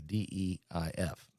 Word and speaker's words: Deif: D-E-I-F. Deif. Deif is how you say it.